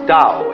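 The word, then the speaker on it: Tao: principle of organic growth they called ow that's pronounced Dao if it had an apostrophe after it would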